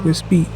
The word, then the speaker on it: Wisbech: Now of course it doesn't have the a but it still pronounces whis beach.